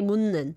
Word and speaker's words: 묻는: You just change it to 니은 받침. 묻는. So say 묻는. 묻는. It's like my last name 문 and then this object particle 는.